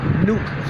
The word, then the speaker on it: NUK: And a lot of us have been taken to calling it Nuke for short, because N-U-K sounds like Nuke when you pronounce it as a word.